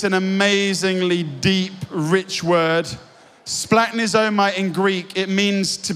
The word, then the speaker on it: splagchnizomai: In verse 13, where it says Jesus was broken, it's this Greek word which we love trying to pronounce, splagchnizomai.